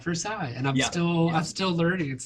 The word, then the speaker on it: Versailles: I'm still getting used to Kentucky where it's like Versailles, not Versailles, and I'm still learning.